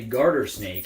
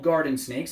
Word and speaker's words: garter snake: correct this is a garter snake and no I didn't mispronounce it they're often called garden snakes in fact I grew